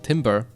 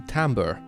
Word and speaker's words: timbre: voice with a deep timber no it's not timber it's it is it is it's timber no you don't pronounce it timber that's wood it's i think it's tomber or something like that